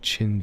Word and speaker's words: Qin: It's more like Chin Dynasty for kin chin. Okay. Kin is just pronounced chin. Okay, I'm sorry. I've been missing so many chats. I've just been staring at Wikipedia. Q pronounced CH in Chinese.